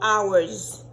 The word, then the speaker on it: hour: So, hour, ensemble avec hour ça, je prononce même genre, bon, je pas même bagaille. Hour ça, c'est heure. Li appelé H-O-U-R, qui c'est heure de temps. Hour ça, qui est appelé O-U-R, il signifie notre.